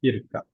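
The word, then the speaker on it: اركب: Ha kalau yarkabu kaf baris atas bacanya irkab.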